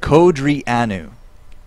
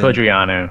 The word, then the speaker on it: Codrianu: Very kind viewers telling us how to say it. Codrianu. As in Codrianu. Codrianu. There we go.